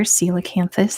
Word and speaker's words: coelacanth: is a coelacanth Valentine's got the name there silicanthus that's how you pronounce it that's how you spell it and